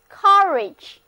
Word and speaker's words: courage: 第一个单词是 courage， courage，字母组合 ou 在这里读作啊，跟我念 courage，在词根 C-O-U-R